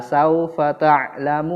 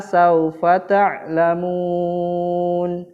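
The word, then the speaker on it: سوف تعلمون: atas zurtumul makobir kalau saufa ta'lamun nah yang ini boleh dipanjangkan ya Dik Adik kalau saufa ta'lamun boleh 5 harokat di huruf setelah huruf mim itu ada huruf Waw maka boleh dipanjangkan ya kemudian sebelahnya song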